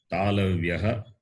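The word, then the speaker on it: तालव्याः: As the name suggests, the class beginning with the letter Cha, and they are pronounced from the palate. Therefore, they are called palatals. Sanskrita word for palatals is Talavyaha, T-A-L-A, Talavyaha, B-Y-A-H, Talavyaha.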